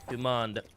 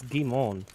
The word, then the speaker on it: Guimond: It's Guimond, actually. Guimond? There's no D. It's silent. It's Guimond.